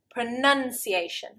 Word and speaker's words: pronunciation: However, the noun is pronunciation, pronunciation. And I can't tell you how many times I have heard English people say this wrong. Rather than saying pronunciation, they get confused with the verb and they say pronunciation. Absolutely wrong.